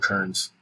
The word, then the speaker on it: cairn: If I'm not mistaken, those are called kerns. Kerns? Yeah, but it's spelled CAIRN.